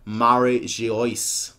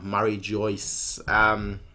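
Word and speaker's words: Mary Geoise: called the Holy Land Mary she iced not Mary Jo ah Mary Joyce which I guess would be the pronunciation for it but it's not really the way it's written yeah there's no way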